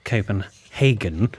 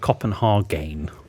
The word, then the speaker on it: Copenhagen: Mum, in this instance, it's pronounced Copenhagen, not Copenhagen.